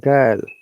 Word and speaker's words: girl: Exception, look, though there is I after G, but we should pronounce like Ga sound girl.